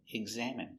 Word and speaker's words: examine: Pronunciation, examine. e g g egg z eggs eggs a exam m exam exam i examine m examine examine Stress on the second syllable.